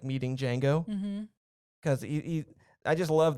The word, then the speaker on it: Django: he what's your name django the d is silent okay so in the